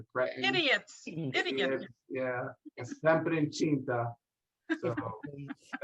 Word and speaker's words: incinta: Incinta. La mamma dei cretini è sempre incinta. And so that's C pronounced like a C I or church C. So, incinta.